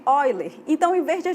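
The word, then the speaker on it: Euler: aqui o Ezinho tá e a gente pronuncia de oiler Então em vez de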